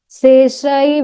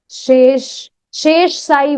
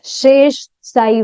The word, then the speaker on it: Shesh Sai: Anyone who wants to may remain, or otherwise they may go to see Seshai Vishnu. She, Shesh Sai Vishnu. It is Shesh Sai Vishnu.